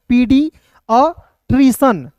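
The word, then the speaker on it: paediatrician: सी आई ए एन, तो क्या पढ़ेंगे दोस्तों, पीडियाट्रिशन, पीडियाट्रिशन पढ़ेंगे, यानी कि बाल रोग विशेषज्ञ जो डॉक्टर होते हैं उसी को जो है पीडिट्रियन कहते हैं।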